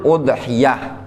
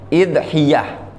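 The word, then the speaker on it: أضحية: Al-udhiyah lughatan, udhiyah secara bahasa, bidhammil hamzi wa yajuzu kasruha. Udhiyah dengan mendhammah hamzah, dan boleh juga dikasroh, idhiyah. Boleh bacanya udhiyah, boleh juga idhiyah.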